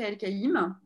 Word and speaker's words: Elkaim: Moi, je l'ai toujours prononcé et entendu prononcer El Kaïm. Et en effet, ça s'écrit dans les papiers des années voilà, 30, 40, et même sur le passeport de mes grands-parents, c'est E-L, plus loin, K-A-I-M. Et pour que les gens